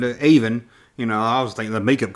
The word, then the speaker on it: Avon: I know, it's spelled like Avon, but Avon.